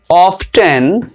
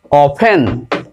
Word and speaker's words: often: তারপর দেখো OFTEN, আমরা উচ্চারণ করি অফটেন কিন্তু উচ্চারণটা হবে অফেন, অফেন।